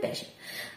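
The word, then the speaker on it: patient: লেখার সময় এভাবে লিখবে পেটিয়েন্ট, কখনো ভুল হবে না, কিন্তু প্রোনাউন্স করবে পেশেন্ট।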